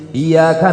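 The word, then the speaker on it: إِيَّاكَ: Iyyaka na'budu wa iyyaka nasta'in. Pakai tasdid. Iyyaka na'budu wa iyyaka nasta'in. Kalau tidak pakai tasdid, iyyaka artinya matahari.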